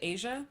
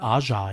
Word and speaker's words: Aja: What is it, Asia? Is that how we say her name? Or Aja? Aja, yes, Aja.